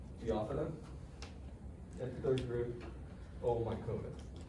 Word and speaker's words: Phaeophyta: Once again, Phyta, and the accent on the O, just preceding it, Phaeophyta.